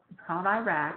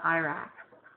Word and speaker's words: IRAC: A very popular means is called IRAC. I know that's not the way we pronounce the country, Iraq, but for this you will call it IRAC.